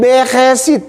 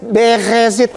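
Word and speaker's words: בראשית: Kitab tua itu namanya beresit. Kalau di sana bilang berhesit. Begesit. Jadi r-nya di dalam.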